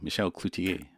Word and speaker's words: Michel Cloutier: I probably don't need to say that because I'm pronouncing your name correctly, Michel Cloutier.